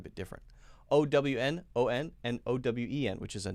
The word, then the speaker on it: Owen: So it's actually a two-syllable word. Owen, okay?